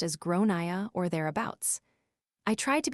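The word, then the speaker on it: Gráinne: and I said well in Ireland they typically pronounce it like gronia her face went red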